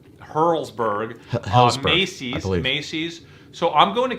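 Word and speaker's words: Helzberg: Hertzberg, I'm saying it wrong. Hurlsberg.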